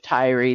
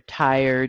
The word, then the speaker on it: Tyre: Fallen as Lucifer the the prince of Tyree the king of Tyree or Tire depending on which way you want to pronounce it um where are you